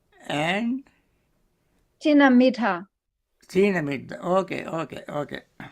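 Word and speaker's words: thīna-middha: Thinamidda.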